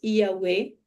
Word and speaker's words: Yahweh: Então, quando nós ativamos esse tetragrama, essas quatro letras Yahweh, que é como se pronuncia, ele nos leva a acessar o plano de Deus para nós.